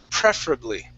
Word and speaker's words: preferably: Okay, stress at the very beginning. Preferably.